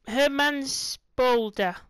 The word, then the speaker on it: Herrmannspolder: back to FS 22 new matter of him Herman's Boulder oh that's how you pronounce it so welcome to to the map